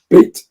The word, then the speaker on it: Beat: It's Beat. It would be Beat, so you pronounce the A, but you know what?